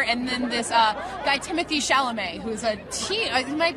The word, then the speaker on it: Chalamet: And it's got Armie Hammer and then this guy Timothy Chalamet, who's a teen.